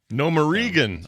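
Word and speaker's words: Gnomeregan: So I have the AI voiceover for the text, and it mispronounces things constantly, and it started to work its way into my brain as the normal way to say it. And they constantly call it Nomeregan. That's great.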